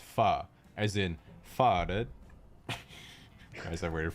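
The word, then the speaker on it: pho: etc but in reality the word is actually pronounced fa as in guys i've waited four years for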